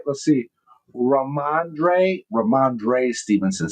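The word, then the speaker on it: Rhamondre: Uh uh Ramande Ram Stevenson. Did I say it right? Let's see. Raandre.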